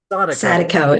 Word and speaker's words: Sadiko: And then most recently, The Wake of the Sadiko, or Sadik, how do you pronounce it? Sadiko. Sadiko, it's Spanish. And The Honey Tree.